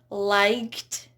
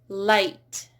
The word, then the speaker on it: light: It's not liked, it's light. Might, right, fight, wait.